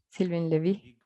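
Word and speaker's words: Sylvain Lévi: ¿Cómo lo pronuncias? Sylvain Lévy.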